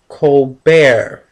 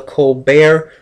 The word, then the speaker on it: Colbert: call him in america his name is stephen colbert the t is silent and his tv program is called the colbert report a silent t